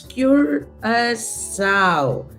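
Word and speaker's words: Curaçao: between so you know it's cure a sow that's how we pronounce it and and it's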